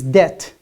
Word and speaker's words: debt: And the last one is debt. Say ba. Right? But it is silent. It's silent. It's doubt, settle, and debt. So we don't pronounce the ba sound in this case, in these words.